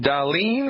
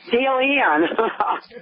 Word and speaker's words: Dalian: Talk to Darlene. I'm probably sure I didn't pronounce that correctly. Hello, Milwaukee. You are live. Hello. It's Dalian. Dalian.